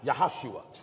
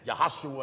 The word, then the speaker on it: Joshua: Minister Joshua me that there's no J's in the Hebrew language Joshua is pronounced yahoshua that's right yahoshua in English is Jesus